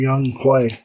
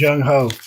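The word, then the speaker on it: Younghoe: I don't remember what it was on, but it's like, y'all quit calling him Young Hui. That name says Young Ho.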